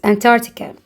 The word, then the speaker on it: Antarctica: Bowler region or Antarctica. C is silent. Antarctica.